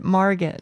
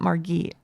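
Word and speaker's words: Margit: Marget, not Margate.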